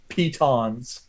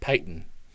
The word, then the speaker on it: piton: you could jury rig something with that with pitons and rope pyton I have kittens it's a piton Peyton I